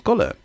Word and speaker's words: Golhar: person to myself, it's my sister called Am Golhar. Now, what she is, otherwise pronounced as Golhar, but what she is an individual who is